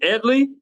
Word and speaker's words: Edly: Is it Edley?